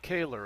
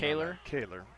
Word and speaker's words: Kaylor: about two or three tell you Kaylor would be the pronunciation Kaylor Oliver Lowden was the